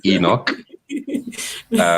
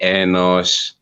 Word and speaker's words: Enoch: Well, it begins with the letter E, so it is obviously Enoch. Some people say Enoch, others say Enosh.